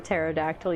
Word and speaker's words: pterodactyl: Hey, why can't you hear a pterodactyl use the bathroom? Because the P is silent.